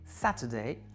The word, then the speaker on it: Saturday: Donc ici, trois syllabes, "interest", accent sur l'avant-avant-dernière qui est donc la interest ou encore le mot Saturday Saturday accent sur l'antépénultième, c'est la première Saturday.